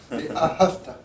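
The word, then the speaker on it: ואהבת: Trois trois syllabes V a have ta. Si quelqu'un dit fait l'accent sur l'accent tonique sur la deuxème syllabe d'accord signifie c'est un passé tu as aimé l'éternel ton Dieu. Or le texte dit tu aimeras. Donc on met l'accent sur la première syllabe et la dernière et surtout pas sur la deuxième.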